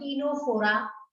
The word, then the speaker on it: Ctenophora: So we will move to the next class, that is actually called Ctenophora. In this case also there is a twist in the story, because C is silent here also.